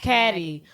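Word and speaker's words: Cady: And I never understood why everyone keeps calling her Caddy. If you look how it's spelled, it's literally pronounced Caddy.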